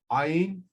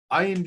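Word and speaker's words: עין: It indicates a mouth position and a vocal position different than Ayin. Ayin begins in the throat, Aleph begins in the mouth.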